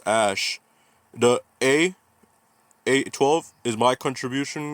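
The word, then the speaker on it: X Æ: It's pronounced Ash.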